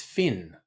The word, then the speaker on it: Fionn: And that's not Fionn, it's Finn.